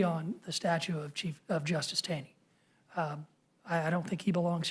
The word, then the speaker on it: Taney: I think it's Taney. At least the people in Maryland say it's Taney.